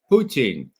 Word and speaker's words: Putin: Everybody assumes it's Putin, and that's why Ray McGovern says it that way. Is that correct, Ray? Well, it's the way I say Lenin or Stalin, Putin.